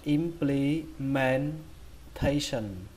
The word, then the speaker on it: implementation: Và trọng âm chính của nó thì lại rơi vào âm thứ tư, đó là âm thay. Âm thay. Âm thay trong chữ thay ma, các bạn lấy chữ thay đó và các bạn đẩy hơi thêm một chút nữa, thay thay.